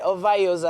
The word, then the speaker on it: Ovayioza: I think I got it right, Ovayioza.